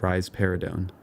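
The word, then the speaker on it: risperidone: for this is rarido you can remember that rise paradon gives rise to a pair of breasts by pronouncing it rise paradon finally we get to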